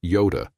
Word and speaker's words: iota: "Dude, it's not Yoda, that's the Greek letter iota, pronounced Yoda."